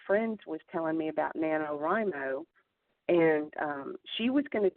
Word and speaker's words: NaNoWriMo: I mean, didn't this kind of all start over the Namo, am I saying it right? Nano. NaNoWriMo.